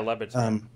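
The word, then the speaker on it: Le Batard: I want to say it's Labatard, but I don't know how to pronounce his name. That's right. Yeah, Labatard.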